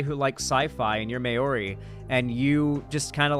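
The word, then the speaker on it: Māori: And so if I was like a guy from that culture like a New Zealand like indigenous person, Mayori is how it's pronounced.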